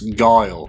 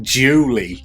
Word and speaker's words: Guile: And we also called him Ryu back then, and we didn't know how to pronounce Guile. I think one of my friends used to call it Julie. Julie, his name is.